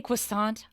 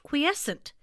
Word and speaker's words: quiescent: Did you say croissant? I am so hungry. No, it's pronounced quiescent.